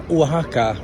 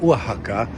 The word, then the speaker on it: Oaxaca: So, I've been talking a little bit about before that Waka, there's an X inside that name, Waka.